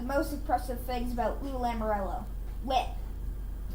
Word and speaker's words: Lamoriello: Which brings me one of the most impressive things about Lou Lamoriello. It's Lou Lamoriello, right, Daddy?